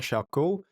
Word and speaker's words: Charcot: Jean-Martin Charcot, he was French, that's why I pronounced it like that.